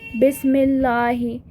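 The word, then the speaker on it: بسم الله: Right, then we write bismillah, we write bismillahi. Now when I write b in front of this ism where hamza is hamzatul wasl, I won't be pronouncing it. I will be reading just bismillah.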